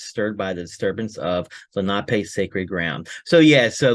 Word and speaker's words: Lenape: Oh, It's actually sorry pronounced. for that smidgen. Yeah, it's actually Lenape. So, Lenape.